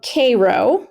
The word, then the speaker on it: Cairo: All right, let's move on down to Greene County, where the town of Cairo, which pronounced Cairo but spelled like Cairo, Egypt.